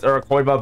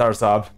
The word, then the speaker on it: Araçoiaba: Like, I know most people would pronounce it as Araçoiaba, but that's not the right pronunciation. Anything, it's Araçoiaba.